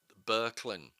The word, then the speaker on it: Böcklin: But towards the end, as you're getting tired of all the text, Arnold, I think it's pronounced Böcklin, because of the umlaut, but apologies to any German speakers if I've messed that up.